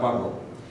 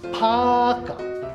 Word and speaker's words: ফাঁকা: চার, পাকো পাকা না, ফাঁকা ফাঁকা।